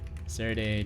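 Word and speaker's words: Serde: Serday JSON.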